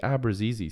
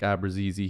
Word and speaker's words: Abruzzese: fun but this video nick abrazizy signing a two-year entry-level contract with the toronto maple leafs now i believe that's how it's pronounced with my research that i've done you know over the last